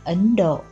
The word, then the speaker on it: Ấn Độ: bàn bạc khác biệt thời cổ gọi là thân độc hoặc gọi là hiền đậu nay theo theo Chánh âm nên đọc là ấn độ Ấn Độ Hán dịch